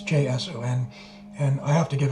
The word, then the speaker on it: JSON: I don't know how to pronounce that. JSON file. It's JSON.